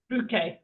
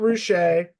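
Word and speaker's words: Ruché: Ruk. Ruk. Yes. Not rusher. Not rouch. Not Rookie, but not Rookie.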